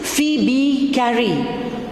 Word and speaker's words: Phoebe Cary: The pronunciation is Phoebe Carey, though the spelling goes like this, Phoebe, right?